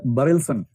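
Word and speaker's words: Berelson: पहला है बरेलसन। बी ए आर ई एल एस ओ एन बरसन दूसरा है laser failed L ए जेड ए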